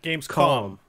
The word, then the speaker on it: Gamescom: I tend to mispronounce I always think there's an N at the end like games conference but it's it's an M like yeah Gamescom like as in do